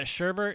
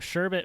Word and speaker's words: sherbet: up and uh yeah sherbert is just like a misnomer for it like that did you do like the google or the like the youtube pronounced thing no i just looked it up i looked up sherbet versus sherbert and it was like only idiots say sherbert because it's either good